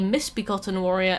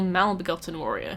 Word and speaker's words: Misbegotten Warrior: Nokron as Nokrom, and the Misbegotten Warrior as the Malbegotten Warrior.